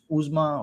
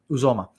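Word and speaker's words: Uzomah: A lot of people keep talking about CJ Uzma, or I keep forgetting how to pronounce that guy's name. CJ Uzumama. Yeah. So Uzoma.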